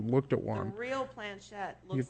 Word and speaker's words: Planchette: Planchette? Yeah. Planchette, yeah.